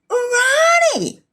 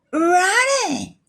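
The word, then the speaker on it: Rony: I said Ronnie. R-O-N-Y. Ronnie nga ron na. Nagan mo ti lalaki. Apay lalaki kan. That is pronounced as Ronnie.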